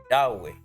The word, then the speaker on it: Yahweh: Vamos a pronunciarlo. Yahweeh. Yot. Hey. Vu. Hey.